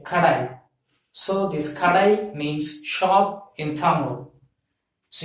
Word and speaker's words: Kadai: So this Kadai means shop in Tamil. So you have to pronounce this as say K-A-D-A-I, Kadai, Kadai. So you have to pronounce this as Kadai, K-A-D-A-I, Kadai means shop in Tamil.